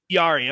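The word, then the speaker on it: Jarry: okay so tristan yari is it yari or jari do i always say his name right tristan yari yari okay um i also corrected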